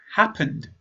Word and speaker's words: happened: It's happened with a D sound.